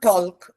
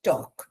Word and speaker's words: talk: L is silent letter, it's not talk, it's talk, like this.